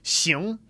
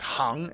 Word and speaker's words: 行: And in this case, we have xíng, which means either to sort of move, or it means like, okay, xíng, or 不行, no, impossible. But it also can mean hang, be pronounced hang.